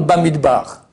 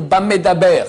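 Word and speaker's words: במדבר: Après notre livre là, je crois que j'en parle, Bamid bar dans le désert, aucun rapport. Alors faut pas lire bamidbar, il faut lire Bamedaber.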